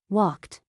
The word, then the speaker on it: walked: Walked. Played. Wanted. Walked ends with a T sound.